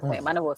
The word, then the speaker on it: Manavosai: I hope the pronunciation is Manavosai, right? Manavosai.